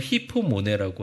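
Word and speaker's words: ὑπομονή: 인내라는 말이 이제 우리 교재 중간쯤 보면 보라색 글자로 휴퍼모네라고 나와 있습니다. 뭐 발음을 히포모네라고 하긴 하는데 이 뜻이 맨 밑에 있다, 밑에서 견딘다 이런 뜻이에요.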